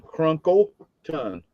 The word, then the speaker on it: Crunkleton: You say crumpleton. Cr n k l e t o n. Crunkle ton. Okay. You said it right, Mark.